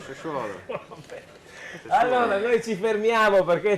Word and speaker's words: Sassuolo: Non si dice Sassuolo, si dice Sassuolo. Sassuolo.